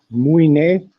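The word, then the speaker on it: Mũi Né: He's staying at a place called it's pronounced Muine, but it's like Muni in Greek, right on the coast.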